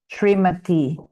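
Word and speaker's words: श्रीमती: the bag, but um, is it shades between an E or an I at the end? Sorry, which one? Shrimati. Shrimati. The famous shrimati. It's the long e sound.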